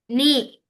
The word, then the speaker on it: knee: Knee. Yeah. Which one is the silent? K. Good. K is silent there.